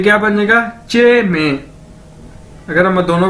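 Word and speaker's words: jiěmèi: क्या बनेगा, चे मे, और हम इसे जे मे भी कह सकते हैं, लेकिन चे मे जो है वो ज्यादा सूटेबल है, चे मे, तो इसका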